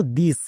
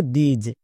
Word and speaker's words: this: এবার সবাই এখানেই ভুল করছো, এই ওয়ার্ডটির উচ্চারণ করছো দিস, দিস উচ্চারণ হবে না, এর উচ্চারণ হবে দিজ।